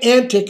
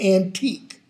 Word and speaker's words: antic: antic and why not antique okay one because of the meter and tick syllable stress on the first one rather than antique second one two antic which is the proper elizabethan pronunciation also suggests two possible